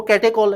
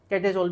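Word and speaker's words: catechol: यानी कि common name, वो कैटेकॉल है, कैटेसोल भी कहते हैं, ठीक है।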